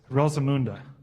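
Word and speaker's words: Rosamunde: for messing this up google said that you pronounce it like this rosamunda who said yes somebody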